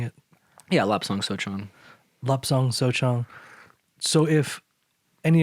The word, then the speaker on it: Lapsang Souchong: So if someone's never had a lapsang or a smoked lapsang souchong, am I saying it right or saying it? Yeah, Lapsang Souchong.